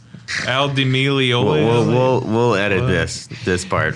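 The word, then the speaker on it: Al Di Meola: you say his name al D'Amelio will edit this this part right for the record it's Aldi me Olaf LD be is not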